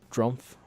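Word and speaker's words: Drumpf: __ ] you Trump drump it's spelled D Ru m f by the way that's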